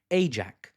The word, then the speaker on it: AIJAC: AIJAC. Slip there. Australian Israeli JAC, Action Committee. I don't know actually, sorry. It rhymes with AIPAC though, that's what's important.